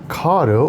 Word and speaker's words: Kato: In today's video, I'm going to show you how to take these little N-scale Kato, or Kato, however you want to pronounce it, Santa Fe Super Chief passenger cars and add lights.